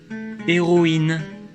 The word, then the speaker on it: héroïne: Mais avec un tréma sur le I, on prononce OI, comme dans héroïne.